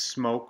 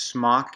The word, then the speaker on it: Smok: it's a smoke yes smoke not smoke cuz smock is that then you where in our class when you don't want to get the paint on you it's smoked it's cute they don't stay spell it without the e it's smoke don't make a joke